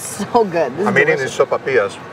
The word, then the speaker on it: sopapilla: Sopapilla?